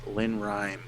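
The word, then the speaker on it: Lenoir-Rhyne: he went to is Lynn Rhyme, is how you say it.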